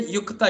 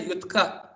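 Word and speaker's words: युक्त: You say yukta, you don't say yutka, you don't say yutka. That is a different thing entirely.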